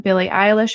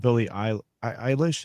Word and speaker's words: Billie Eilish: Billie Eilish had a documentary, which was really cool to